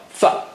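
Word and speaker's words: ف: Fa, fa, okay, fa. How do you say fa? Touch the lower lip to the edge of the upper teeth.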